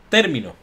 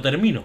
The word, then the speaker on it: Término: En Kill Team, en Kill Team Termination, o en español, Kill Team Término. Que no termino, que sería otra cosa, tiene acento en la...